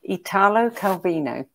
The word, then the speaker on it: Italo Calvino: Well, book number three is Invisible Cities by, and you can correct my pronunciation if you like, Italo Calvino.